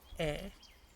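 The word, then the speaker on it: へ: And the particle he, pronounced just e.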